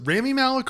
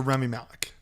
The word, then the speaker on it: Rami Malek: and then stars uh is it Rami Malek or Remi Malek? I think it's Rami. Spelled like Rami, but I feel like a lot of people hear people say Remi Malek.